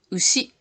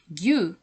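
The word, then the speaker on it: 牛: Alors, la prononciation kun égale ushi, kun yomi égale ushi. Ensuite, on yomi gyu, gyu de gyunyu, lait de vache.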